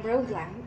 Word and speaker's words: Rouglam: I am Rouglam. It's spelled R-O-U-G-L-A-M. Row plus glam. It's got from my name. So I brought out the row from it. And glam from glamorous.